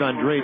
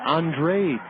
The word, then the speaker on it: Andrade: for Maniac ball one professional golfer with the same last name pronounces it Andre Billy Andre this guy is Steve Andrade a-n-d-r-a-d-e Maniac climbs back in